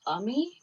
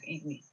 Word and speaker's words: Ami: No, her name in Indian is Ami, but she lucked out. It's spelled AMI, so everyone calls her Amy.